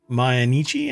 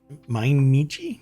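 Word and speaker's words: Mainichi: the newspaper oh really manichi I guess right cuz you you have to pronounce it like that my in my nii my nii yeah I'm going to I'm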